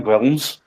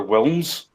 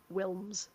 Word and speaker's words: Wilms: But it's like Lynn Wilms, like because she's Dutch, the W is obviously pronounced like a V, Yeah. but everybody still call her Wilms.